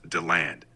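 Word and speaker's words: DeLand: Orange City how do you say that that's pronounced Dand stay safe covering the severe weather all right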